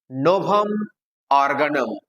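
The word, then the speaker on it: Novum Organum: তিনি একটা বিখ্যাত এসে লিখেছিলেন, NOVUM, কি হয় উচ্চারণ? NOVUM, নোভাম। ORGANUM, নোভাম অর্গানাম। কি বললাম?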